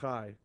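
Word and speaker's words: חי: Instead of Yud Chet, it's Chet Yud, pronounced Chai, which is the word meaning life.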